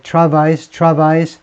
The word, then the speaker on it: travail: blame 뒤에 어떤 때는 on이 나오냐면 something이 먼저 나올 경우에 그래서 blame Argentina's economic travails 불어입니다. 불어. 그래서 travail 이렇게 발음하죠.